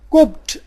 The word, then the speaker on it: Copt: قبط English میں کوپٹ کہا جاتا ہے. تلفظ کا جو انداز ہے، جو مشابہت ہے، وہ بتلا رہی ہے کہ یہ ایک جیسے الفاظ ہیں. انگلش میں کوپٹ تھے، COPT کوپٹ، عربی میں جا کے قبط